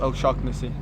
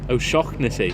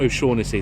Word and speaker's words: O'Shaughnessy: How is it actually pronounced? What's the correct? It's O'Shaughnessy. O'Shaughnessy. Yeah. Not O'Shaughnessy.